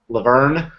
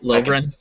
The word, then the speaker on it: Lovren: Well, they brought in I can't ever pronounce his name because I want to put the R in front of the E. Laverne.